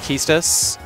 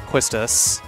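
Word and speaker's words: Quistis: in case you were wondering yes it is pronounced Kus and not Quist I thought it was pronounced Quist when I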